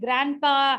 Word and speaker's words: grandpa: and I make it Grandpa I make it Grandma instead of saying Grandpa and Grandma the D is obstructing me so I don't want to say that so I would just say grandpa I would just say